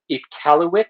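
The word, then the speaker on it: Iqaluit: toronto versus vancouver montreal versus icaluit which is how that is pronounced in our far north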